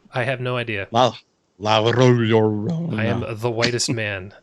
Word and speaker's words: La Llorona: Curse of La Llorona. You said it though. You said it right. Did I? I have no idea. La Llorona.